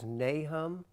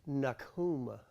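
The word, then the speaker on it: Nahum: this book as nahm I am going to dispell the myth of the way you pronounce that it is completely and totally false it is wrong I don't ever want to hear the word nahem again out of your lips it's nakum bless nakum bless me okay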